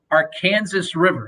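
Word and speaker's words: Arkansas River: atmosphere the ballpark is sits right on the our kansas river yes that's how it's pronounced um but it's uh it's it's a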